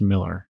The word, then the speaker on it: Millar: As far as I know, it's still pronounced Miller, even though it's spelled A with an A.